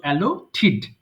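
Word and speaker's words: allotted: এই যে লাস্টে টিডি থাকলে কিন্তু আমরা ঠিড উচ্চারণ করব, আমাদের সঠিক উচ্চারণটাও জানা প্রয়োজন। সো অ্যালোটিড।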